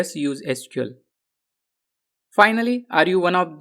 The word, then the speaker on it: SQL: to pronounce the language some developers pronounce it as letters SQL while some pronounce it as a word SQL actually both the pronunciations